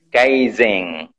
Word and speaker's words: Kaizen: Monggo Iya jadi sedikit Mungkin cara pengucapan tewas itu namanya Kaizen Kaizen Kaizen Kaizen Oke jadi itu dibacanya ng kalau di Jepang kaiseng Iya Kaizen berarti di